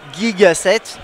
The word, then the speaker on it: Gigaset: Alors Gigaset ou Gigaset, prononcé comme il faut, c'est une marque qu'on connaît